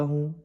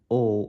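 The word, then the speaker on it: ho: मैं 20 साल का हूं तो उसको इटालियन में कैसे बोलो बोलोगे ओ वंती आनी ओ वंती आनी ठीक है हो नहीं बोलोगे इसका एच साइलेंट है ओ वंती आनी वंती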